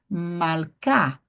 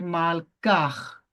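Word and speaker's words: מלכה: Malká. Perceba? Malká. Eu não falei malkar. Não. Lo. Eu falei malká.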